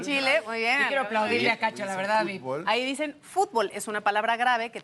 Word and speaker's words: fútbol: la palabra fútbol no fútbol es una palabra que en México pronunciamos como una palabra aguda aguda que termina en L por lo tanto no debe llevar acento Pero qué pasa que